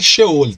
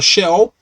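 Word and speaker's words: Sheol: é o local de purificação ou xeônica a pronúncia correta é show ele tá mas se a gente fala Shell porque as pessoas normalmente pronunciam a portuguesado Shell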